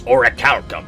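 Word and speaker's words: orichalcum: lesbians I will say it took me years to pronounce Oracle properly because that's just not a word you hear a lot as a kid I was like origam I'm telling you it's oracalcum I've read it in the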